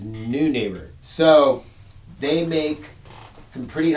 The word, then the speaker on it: Neunaber: kind of crazy because I would have thought noi NE like uh one of our favorite bands noi but it's not it is new neighbor so they make some